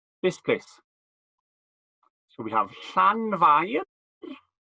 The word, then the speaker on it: Llanfair: And having looked at some of our other place names, you might like to have a go at pronouncing this place. So we have Llanfair.